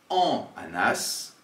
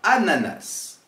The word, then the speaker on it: ananas: dans les deux cas attention ananas ne se prononce pas en Anas on dira ananas même si on a la lettre A et N qui se suivent car nous n'avons pas de consonne après mais une voyelle ici le a on prononcera donc toutes les lettres le son c'est très